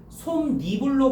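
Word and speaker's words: 솜이불: 자, B는 사이뒤에이 소리가 결합된 것이니 솜니불로 발음해야 되겠군. 솜니불 발음은 맞거든.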